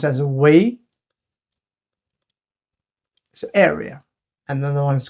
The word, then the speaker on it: 圍: A bigger form, pronounced as wei, is area.